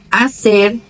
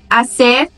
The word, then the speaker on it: hacer: Onde ela aparecer, o som vai ser mudo. Hola, helado, hijo, hacer, huracán, héroe, hombre.